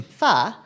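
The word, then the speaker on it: pho: can't really take credit for it but uh my daughter's favorite food Ava's favorite food is fa which is that's how you pronounce p h o not fo it's not Fox oh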